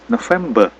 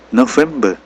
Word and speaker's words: November: Selanjutnya November. November R-nya hilang.